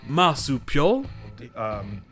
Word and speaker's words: marsupial: Mais quand ce n'est pas le cas, c'est juste I. Comme dans par exemple marsupial, Marsupials.